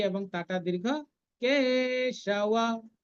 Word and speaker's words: কেশব: বিপরীতানি কেশব, বিপরীতানি, রি এবং তাটা দীর্ঘ, কেশব, কেশব, কেটা দীর্ঘ।